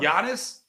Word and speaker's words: Giannis: Let's just talk about Giannis. Yeah, let's talk about not Giannis. Okay. All right. So, silent silent G like lasagna.